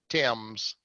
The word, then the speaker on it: Thames: Thames I guess it's yeah we pronounce it team so it looks like Thames but we pronounce it Tim's okay dance okay there is a console on